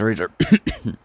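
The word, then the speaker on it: Raizer: It's spelled R-A-I-Z-E-R. I think that's how he says Razer.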